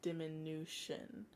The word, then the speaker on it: diminution: terms uh augmentation and diminution and yes it's pronounced diminution so augmentation diminution augmentation of course is when